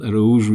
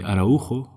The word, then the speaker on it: Araújo: So, my name is Eru and Arou is the Portuguese pronunciation. In Spain they called me ao. When I was in France it was a and in English could be arro.